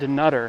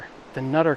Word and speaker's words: Dunnottar: Stopped at I believe it's pronounced Dutter. D the Nutter Castle.